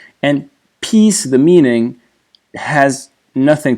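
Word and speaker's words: 案: So again, this entire character means table, case, or file is pronounced an.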